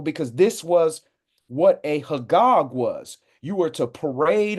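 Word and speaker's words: חג: here age 2287 so the word for that in Hebrew is hog hog U which is spelled c h a g a g so that's what this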